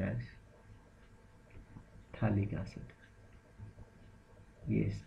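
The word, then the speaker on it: phthalic: it is called as colic acid yes P is silent in this and if you are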